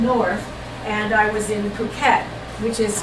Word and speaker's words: Phuket: It's Phuket, not Phuket, like we would think PH would be a PH, but Phuket. Phuket. Phuket. Okay. Thank you. They pronounce the P.